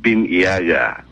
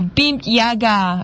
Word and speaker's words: BIMP-EAGA: pronounce that well well we usually call it be Yaga oh beam Yaga I yes now it